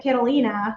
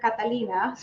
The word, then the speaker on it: Catalina: And they read my name as Carolina, which technically the way you say my name properly in Spanish is Catalina.